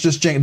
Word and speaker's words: Django: It's pronounced just Django. The D is silent.